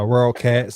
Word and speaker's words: WorldCat: Uh, WorldCat spelled like it sounds. World like the world. Cat like the cat like the animal.